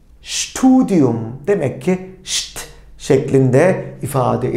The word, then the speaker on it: Studium: S, T, Şt. Studium.